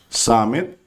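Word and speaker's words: Sámej: Los también, porque esta es una Samet y se pronuncia como una S.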